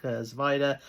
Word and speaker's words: Svajda: So Zachary Svajda, I think Zvajda is how you pronounce that name.